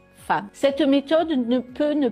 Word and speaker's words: femme: Si on le décode, on lit femme, mais en fait, il faut apprendre que ce mot se dit femme.